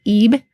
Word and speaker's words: ib: So this hieroglyph has the sounds of yod and b. We pronounce this ib in modern times, and this spells the word for heart.